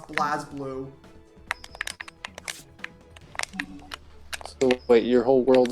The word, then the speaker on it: BlazBlue: I don't want to hear about fucking pronunciations after I found out that Blaze Blue is pronounced BlazBlue.